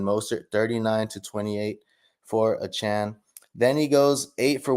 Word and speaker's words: Achane: and we got Devon a chain guys or a Chan right they the he requested that we pronounce it at Chan so Devon a Chan or a Chan he outstands monster guys